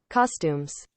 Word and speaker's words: costumes: Costumes. Costumes. It's Okay. almost the same. It's almost the same, but here is la última es como una U más pronunciada.